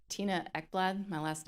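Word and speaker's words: Ekblad: It's Tina Ecklad. My last name is spelled E K B L A D.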